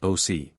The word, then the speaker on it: oc: whose speech bearing some affinity to the Italian, pronounced the same word oc.